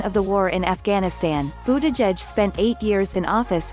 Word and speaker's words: Buttigieg: and a veteran of the war in Afghanistan boo de jedge spent eight years in office in South Bend